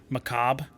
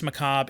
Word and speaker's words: Macabre: Macabre? Yeah, it's a silent R.